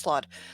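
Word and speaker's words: slaad: ] is a slab a green slab oh a slot it's a like a little yes it's pronounced sloth it's a poisonous creature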